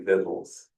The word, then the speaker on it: victualers: Oh, I know it's spelled that way, but it's really Vittles.